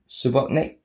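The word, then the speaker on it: Subotnick: sorry Mark sub subotnik subotnik sounds like Robotnik doesn't it it was a producer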